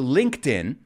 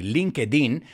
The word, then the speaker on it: LinkedIn: purpose well according to linkedin this is an interesting one too my students always say linkedin but no in english it's linked in and to link somebody